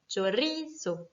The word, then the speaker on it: chorizo: Le mot chorizo, qui est un mot qui se finit donc par un O, donc par une voyelle, va être accentué naturellement sur ri. Chorizo.